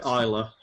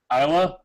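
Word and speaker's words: Islay: Please don't say Isla. Isa. Yeah, I'm not going to pronounce all the letters. I'm I'm an American. It's an Isa mold.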